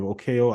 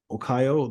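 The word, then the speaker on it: Okoye: Okeo. I keep pronouncing it wrong. O Okayo, the one that Dan Guerrero plays.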